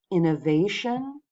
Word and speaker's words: innovation: The third word, innovation, has 4 syllables. And as we talked about before, it's the second to last syllable. Not the last, but the second to last syllable that's going to get the stress when there's a shun ending.